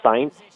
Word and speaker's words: Sainz: Carlos Sainz.